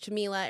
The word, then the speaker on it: Jamila: I used to always joke Jamila. It rhymes with tequila.